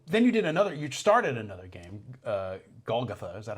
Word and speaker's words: Golgotha: But, then you started another game, Golgotha, is that how you pronounce it? Yeah. Golgotha, yeah.